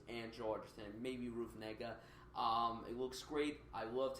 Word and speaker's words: Negga: This film stars Joel Edgerton and Ruth Negga. That's how you pronounce the name.